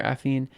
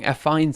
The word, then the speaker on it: affine: I can't pronounce affine correctly. Like, every time I try to pronounce it, it's wrong. It just sounds wrong. Affine sounds wrong. But I guess that is how it's technically pronounced.